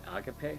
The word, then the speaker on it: agape: I think the correct pronunciation of it would be agape because it's a Greek word.